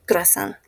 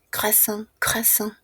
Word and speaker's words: croissant: Croasan muy similar a la pronuncia en fran. Croissant.